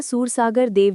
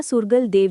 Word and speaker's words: सुरगल देव: Note: बाबा सूरसागर देव जी का सही उच्चारण और वर्तनी हिंदी राजस्थानी लोक परंपरा में बाबा सुरगल देव जी के रूप में प्रचलित हैं।